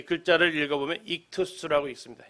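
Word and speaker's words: ΙΧΘΥΣ: 여기 있는 이 글자를 읽어보면 익투스라고 읽습니다. 익투스.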